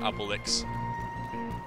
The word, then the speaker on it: Obelix: Yeah, Obelisk. Not Obelix. Obelix is the character, Obelisk is the pointy thing.